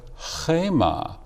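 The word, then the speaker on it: חמה: And that can be reread not choma, but chema, which means wrath.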